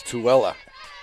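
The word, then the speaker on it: Tooele: of Salt Lake City that's too Wella t-o-o-e-l-e that's kind of what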